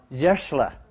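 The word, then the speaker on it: Zscheischler: How do you pronounce his name? Zeschler. Pardon? Zeschler.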